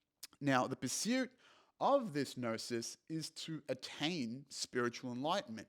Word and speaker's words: gnosis: great concept called gnosis that's kind of what gnosis but gnosis spelled g-n-o-s-i-s now gnosis is the